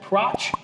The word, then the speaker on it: Pratch: and we're with pratch rhymes with scotch that's right she's a